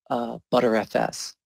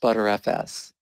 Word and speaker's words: Btrfs: until I learned about butter FS btrfs is pronounced butter FS that was the first